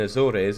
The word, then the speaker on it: Azores: The E in Azores is like E in any English word. It isn't pronounced the same as Spanish.